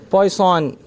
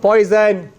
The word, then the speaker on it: Poisson: of this subtopic of Poisson distribution it's not poison that's for sure it's points on a point line it's the French Way okay understand it okay